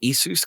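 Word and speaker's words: Jesús: He pronounces it Jesus, kind of like that. And we're like, sorry, what was it? And he's like, Jesus, like Jesus.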